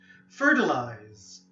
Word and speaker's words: fertilize: call to Vasia cultivation fertilize for your lives make sure you have the Z or Zed sound a fertilized number six intensify